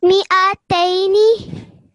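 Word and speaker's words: مِائَتَيْنِ: So I want you to start from here and remember where the alif zada is and make sure not to pronounce it. Okay. Mi'ataini.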